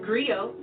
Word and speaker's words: griot: share that history with you agree oh it's pronounced griot or English agree on its the West African